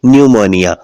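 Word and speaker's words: pneumonia: तो प साइलेंट होगा इसमें देखिए कि अन से पहले क्या है प क्या बोलते हैं न्यूमोनिया तो इसमें क्या हुआ प साइलेंट हुआ आगे देखिएगा पी अस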